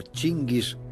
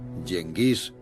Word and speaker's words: Gengis: Gengis, también pronunciado Chingis, Yenghis y Jingis, originalmente Temujin, fue el más grande conquistador de toda la historia.